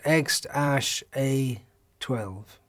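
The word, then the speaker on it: X Æ A-Xii: didn't give me a name like that it's pronounced x ash a 12.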